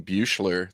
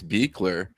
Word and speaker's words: Beekler: I've been saying Bucher this whole time, but it's Beakler, which is very German.